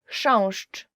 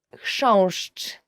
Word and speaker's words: chrząszcz: Chrząszcz, beetle. So the first word is, and I promise you this is the most difficult word you will ever learn in Polish, as for the pronunciation, is chrząszcz.